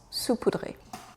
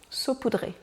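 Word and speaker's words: saupoudré: poudre sur un support voyons voir si j'arrive à trouver une prononciation saoudré voilà ça c'est la bonne prononciation sa poudré saut poudré désolé pour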